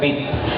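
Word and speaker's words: REIT: trust pronounced at as rit Yeah so it's like Street Yeah so is not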